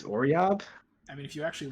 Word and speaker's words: Oriob: I think you got most of the names okay, except for Oriob. You said Orabi. Orabi? It's Oriob?